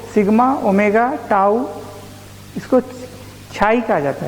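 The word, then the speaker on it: χ: है न्यू पाई रो sigma omega ताऊ इसको छाई कहा जाता है क्या बोलते हैं चाहिए और यह तुम्हारा साइज 30 साइलेंट है ऐसा कहा जाता बल्कि लेट लिखो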